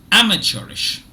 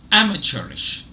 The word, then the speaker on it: amateurish: already you know that the first syllable is stressed amateurish amateurish now you may